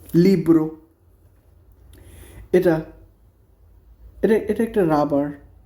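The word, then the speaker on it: libro: বই বুক তো বুককে ইটালিয়ান ভাষায় কি বলে লিব্রো এল আই বি আর ও লিব্রো এটা এটা একটা রাবার তো রাবার রাবারকে ভাষায়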